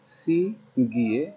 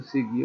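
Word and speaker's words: 시계: এরপর তো হচ্ছে সিগে, সি গিয়ে, এই গয়ের সাথে আছে ইয়ে, ইয়ে ইয়ে বর্ণটা কি হয়, ইয়ে স্বরবর্ণটা যদি শব্দের মাঝে বা শেষে বসে তাহলে এর মতন উচ্চারণ হয়। লেখা আছে সিগিয়ে, উচ্চারণ হবে সিগে, সিগে, সিগে মানে হলো ঘড়ি।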